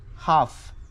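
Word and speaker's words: half: आहे 17 नंबर आहे हाफ हाफ म्हणजे अर्धा याची जी स्पेलिंग आहे एच ए एल एफ जो एल आहे हा याच्यामध्ये मध्ये सायलेंट आहे नंतर आहे 18 नंबर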